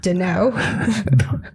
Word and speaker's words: Darnold: No, your guy is Sam Darnold. Darnold. Like Darnold. the easiest name to pronounce, and you screw Darnold.